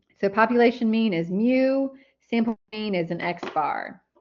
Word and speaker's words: mu: And this is called mu. Um is kind of how you pronounce it. It's kind of pronounced like mu.